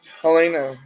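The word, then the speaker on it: Helene: Or Elena? How do you pronounce that again? Helena? Helena.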